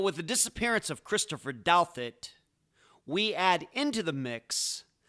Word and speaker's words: Douthat: Christopher Douthat, and yep, that's how you pronounce his last name, had a rough upbringing.